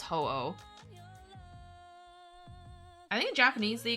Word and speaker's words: Ho-Oh: I find it funny how in English it's pronounced Ho-Oh. Okay, how was it pronounced like otherwise? Is it Hu-Oh? Or Hu-Oh or something? It's just pronounced Ho-Oh.